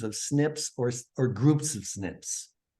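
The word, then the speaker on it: SNP: that single nucleotide polymorphism snip is how people pronounce it a single snip occurs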